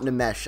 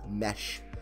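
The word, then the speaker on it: Nmesh: It's not Namesh. I learned that this week also, everyone. Thank you for correcting me. It's Mesh. The N is silent.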